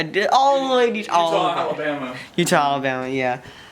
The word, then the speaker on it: Eutaw: I did all the way to Utah, Alabama. Utah, Alabama, yeah. Not the state, Alabama. EUTAW. Weirdly spelled, but pronounced the same.